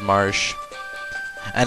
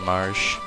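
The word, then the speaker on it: Marche: keep his name as Marsh. And again, that can be pronounced different ways, but I've always said Marsh. And I refuse to say Marsha because that's just a girl's name.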